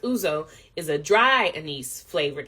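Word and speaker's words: ouzo: juice like a lot of lemon juice it's pronounced uzo is a dry anise flavored aperitif that is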